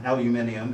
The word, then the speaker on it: aluminium: They made up a similar thing out of carved aluminum. That's not what the machinists call it. Carved aluminum is what? It's milled. Milled aluminum, aluminium, as the British say.